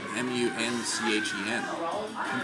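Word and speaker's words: München: How do they spell Munich if it's spelled M-U-N-C-H-E-N? Munchies. I got the munchies. Munich. Muncha? Munchen. Yeah. Munchin. Why are we calling it Munich then?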